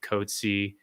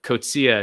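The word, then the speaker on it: Coetzee: south african doctor uh angelique codzie uh kocia is actually how it's pronounced um who raised alarm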